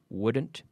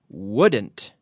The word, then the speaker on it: wouldn't: but wood wood so wouldn't couldn't shouldn't okay in all these cases the L is silent okay okay so repeat with me at home wouldn't wouldn't we be in in